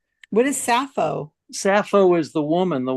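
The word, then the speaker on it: Sappho: Rotten Tomatoes that makesense and I know it's safo what is safo safo is the woman the one that yeah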